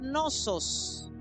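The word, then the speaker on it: νόσος: Entonces, la palabra dolencia, note, en el griego es la palabra nosos. Lleva tilde en la segunda O.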